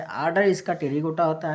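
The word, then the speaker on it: Pterygota: इसके आर्डर मतलब गण की बात करते हैं तो आर्डर में आते हैं टेरिगोटा, पी साइलेंट रहता है टेरिगोटा।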